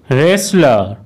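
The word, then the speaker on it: wrestler: Rule one, কোনো ওয়ার্ডের মধ্যে অথবা শেষে এস টি এল ই একসাথে থাকলে তখন কিন্তু ওই টি লেটারটির উচ্চারণ সাইলেন্ট হবে।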